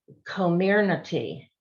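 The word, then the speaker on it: Comirnaty: look at my paper it's community is how they phonetically spelled it out you can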